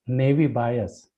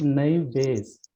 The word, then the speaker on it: Naive Bayes: The main theorem which you were revolving about, it's not pronounced as Navy bias. Okay. If you would be kind enough to even search on Google, Yeah. it's Naive Bayes.